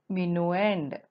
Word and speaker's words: minuend: here 576 is the bigger number which is called as mino end and we spell it as m i n u e n